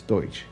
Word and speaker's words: Deutch: It's Deutch.